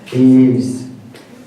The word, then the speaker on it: Yves: This is by Yves Joris. Is he here today? Am I saying his name wrong? Okay, Yves.